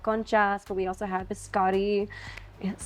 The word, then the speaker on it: biscotti: was we had conchas, but we also had biscotti.